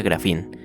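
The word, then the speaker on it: γράφειν: Está dividida en dos partes: bio, que significa vida, y grafía, que viene de un verbo griego que se pronuncia grafín, y significa escritura o escrito.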